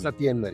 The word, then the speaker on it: Satyender: Satiende, is that how you pronounce it? Satiend. Satiender.